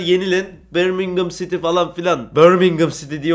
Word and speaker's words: Birmingham City: Birmingham City diye okunur.